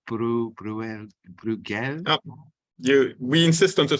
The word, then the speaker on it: Bruegel: and founding member of the, how do we pronounce this, Nicolas? It's Bruegel? We insist on the spelling. So Bruegel.